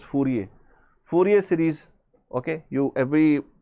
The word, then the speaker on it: Fourier: Then Fourier series, most of the people calling it Fourier, actually that is the wrong pronunciation, it is Fourier.